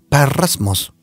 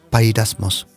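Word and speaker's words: πειρασμός: Parasmos o parasmos, más o menos como los pronuncias. Pairasmos. Y en español, la Biblia, la Reina Valera, traduce pairasmos.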